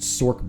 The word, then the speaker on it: sorc: they tried this um the sorc it's pronounced sork by the way you animals zeal helm